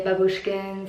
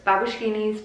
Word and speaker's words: babushkinis: A lot of you guys say babushkins or babu. You guys don't know how to pronounce it, but it's babushkinis. But in reality, my real name is Brianna.